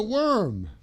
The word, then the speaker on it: worm: Oh, there's a worm. WERM sound.